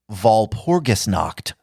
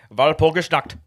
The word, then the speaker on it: Walpurgisnacht: major satanic holidays are, now listen to this pronunciation, Jerry, Walpurgisnacht. Walpurgisnacht. Walpurgisnacht. Walpurgisnacht. All right. I hear a lot of Walpurgisnacht and stuff out there, but I think we're trying to say Walpurgisnacht.